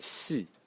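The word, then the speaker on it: 四: The number 4, which is this one, is pronounced si in Chinese in the fourth tone, and as you can see, it sort of breaks the rule.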